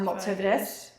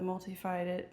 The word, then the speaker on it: multifidus: It's our pelvic floor, our transverse abdominis, our multifidus, and we said transverse abdominis, the multifidus.